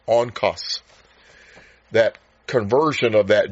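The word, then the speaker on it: ὄγκος: The Greek word for weight is spelled O G K O S, but it's pronounced O N K O S on cus.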